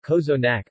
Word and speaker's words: cozonac: KO's enact romanian pronunciation kozo nack Arcos unik Bulgarian Kozue NIC Bulgarian pronunciation Kozue Mack is a traditional Bulgarian